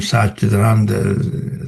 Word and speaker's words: Satchitananda: And Satchitananda is composed of three syllables, Sat, Chit, and Ananda. Sat means truth or being, existence.